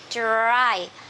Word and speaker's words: dry: season monsoon monsoon season and we have dry remember dr the consonant cluster der dry dry season dry season spring spring